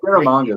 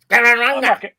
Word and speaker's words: Scaramanga: Nick Nack pronounces Scaramanga the best. When I say that word, I try to emulate Hervé Villechaize. How did you say it? Scaramanga. It's a little more French, and I can't emulate